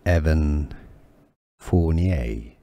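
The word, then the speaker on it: Evan Fournier: for the Detroit Pistons at some point Evan Evan forier here are more videos on how to pronounce more confusing words and names too many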